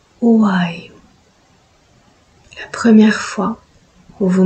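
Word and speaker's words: WOUAIOU: Le code d'activation qui appelle votre dragon s'appelle W-O-U-A-I-O-U. À chaque fois que vous voudrez faire appel à votre dragon, vous prononcerez Wayu, Wayu, Wayu.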